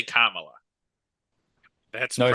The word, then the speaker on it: Kamala: saying it right um basically Kamala Kama and then La so yeah I didn't